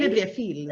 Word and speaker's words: Bibliofilles: We don't pronounce it in a French way. We it's do. Just, well, do the we? Bibliofilles.